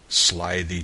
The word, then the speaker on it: slithy: me how to pronounce slithy Toves the i' in slithy is long as in writhe and Toves is pronounced